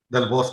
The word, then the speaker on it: Del Bosque: Del Bosque? Yes, ma'am. And forgive me if I'm mispronouncing your last name. How do you pronounce your last name? Del Bosque, you did right.